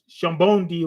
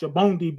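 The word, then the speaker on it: Sabaody: Notice how dragon had the same pose as Luffy when Luffy was in uh Shambondi or whatever. I think it's pronounced Shabondi, but it's uh spelled Sabodi.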